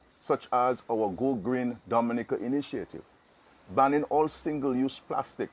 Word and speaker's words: Dominica: oh we call it dominican it is spelled d-o-m-i-n-i-c-e it is not dominican republic it is pronounced dominica and is situated between